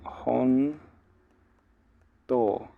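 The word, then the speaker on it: 本当: realidad la palabra jonto esta jonto tiene una u al final sería como hon to así con esta u al final onto em Pero bueno cuando como como esta u queda Cómo se dice como muda porque en realidad cuando hay un sonido de o más u se pronuncia como si fuera una doble o así como honto uno la estira un poquito que da igual y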